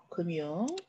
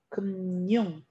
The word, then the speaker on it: 금융: 자, 요 단어는 발음이 두 가지입니다. 자, 첫 번째 발음은 그대로 발음하는 거예요. 그러면 미음이 올라가서 금융, 얘도 미음이 올라가서 검열, 네, 이렇게 그대로 발음하는 게 원칙이고요. 니은 첨가도 일어납니다. 얘는 금융, 얘는 검열, 둘 다 맞아요.